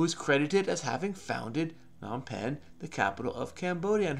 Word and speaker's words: Phnom Penh: Okay, so it's pronounced Phnom Penh.